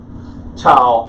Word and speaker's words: tau: tall is this tile I would say tog and is T as in toy even when we try to use b8 the ancient or the biblical pronunciation the books are so low and consistent so I'm gonna go with tau and make it a T sound for the purpose of